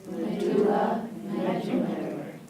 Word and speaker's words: medullary: Medulla and medullary. Medulla medullary.